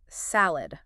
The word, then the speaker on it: salad: Okay, so with salad, make sure you're pronouncing the A as in cat, not car. Right. And don't forget the D at the end. It's S-L-A-D, not say-ow.